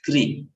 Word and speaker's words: Krishna: And this is what you see in Krishna, right? R with a dot. That's why it is pronounced as Kri.